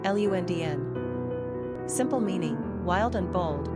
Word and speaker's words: Londyn: Pronunciation, Lundn.